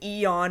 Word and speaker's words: Aeon: Yeah, and it was only in these 2 specific Aeon, they pronounce it Eon, I believe, A-E-O-N, cinemas.